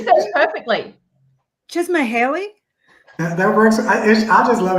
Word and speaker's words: Csikszentmihalyi: really long Hungarian name that I can never pronounce. It's like Csikszentmihalyi or some. I'm not, Csikszentmihalyi, which I'm gonna just for me. Try to say that again, Melissa. You said it perfectly. Csikszentmihalyi.